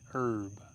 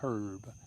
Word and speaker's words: herb: It's an herb. And if you want to say it right, it's a herb.